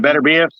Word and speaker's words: Beterbiev: But just throwing, I don't think fighting elite fighters like David Benavidez and Arthur Beterbiev, how you pronounce his name? Beterbiev.